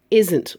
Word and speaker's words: isn't: be aware of that the book isn't long make sure you hit that T okay be careful she